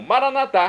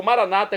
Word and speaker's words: Maranata: E agora eu clamo, Maranatá, como dizemos nós católicos, ou Maranata, como dizem nossos irmãos separados, os evangélicos ou protestantes. Não importa a pronúncia, o significado é o mesmo.